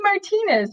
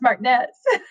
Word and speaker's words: Martinez: And then my senior every year when the first day of school would come, I would they'd say Martinez, and I'd say no, it's pronounced Martinez.